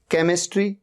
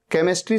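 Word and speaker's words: chemistry: After सी, सी के बाद एच आ रहा है। केमिस्ट्री, केमिस्ट्री सब्जेक्ट होता है, एच का यहां पर साउंड ही नहीं है।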